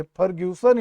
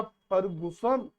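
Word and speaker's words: Fergusson: चीज गलत नहीं होती अलग अलग लोग अपने ढंग से अलग अलग उच्चारण करते फर्ग्यूसन या फगस और फर्ग्यूसन या फर्गुसन निरंतर या कंटिन्यू चार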